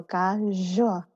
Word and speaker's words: KaZoua: When you make the z sound, you're vibrating like the whole of your tongue, like all of your tongue up against your roof. So KaZoua.